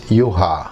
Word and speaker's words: Juha: Because I'm from Finland, so it's Juha.